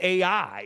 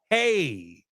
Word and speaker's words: Ai: how you pronounce this AI is not called AI it's called hey and that word when